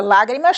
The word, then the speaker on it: lágrimas: Temos a palavra lágrimas. A palavra lágrimas tem 3 sílabas. Podemos ver, vamos contar: última, penúltima, antepenúltima. Então, a palavra lágrimas está acentuada na antepenúltima sílaba. Por isso, designamos de palavra esdrúxula.